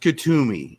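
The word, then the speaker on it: Kuthumi: frequency for example have you ever channeled uh kusumi i would imagine that's how it's pronounced k-u-t-h-u-m-i kazumi it's pronounced katumi and yes um i have channeled katumi in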